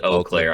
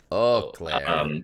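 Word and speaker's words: Eau Claire: or oakair you guys let us know it's O Clair I looked up how to say it e Au CLA is pronounced o CLA oh Claire oh Claire also the yeah oh Claire the World Championships takes place in on the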